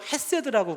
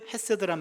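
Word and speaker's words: חסד: 이게 어떤 발음이냐면 가래 뱉기 직전이에요. 그래서 세드 이렇게 해야 되는데 이게 목젖을 긁어서 나오는 단어이기 때문에 일단은 앞에 분에게 실수를 할 수 있어서 안전장치를 하고요.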